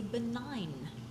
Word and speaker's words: benign: That tumor is known as a benign tumor. Benign, the G is silent.